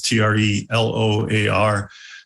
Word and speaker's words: Treloar: You can connect to me personally on LinkedIn, just Treloar, as you spelled or pronounced it, it's Treloar at Orbita.